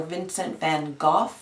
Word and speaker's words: Vincent van Gogh: in the past famously Vincent van Gogh he or Vincent van Gogh as he pronounced it in in Dutch he would he had